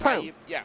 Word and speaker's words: Prue: That is Will Prue. That's Prue. That's how you pronounce his last name. I was there too, Rachel. I know. So okay. I called him Proud for the longest time.